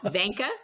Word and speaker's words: Vinca: I pronounce my first name as if it rhymed with Sanka, for those of you who remember Sanka brand decaffeinated coffee. So I say Vinca.